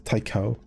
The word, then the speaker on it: Taiko: One word, two syllables, rhymes with psycho. Oh, is it Taiko? Not Tao. It's Taiko.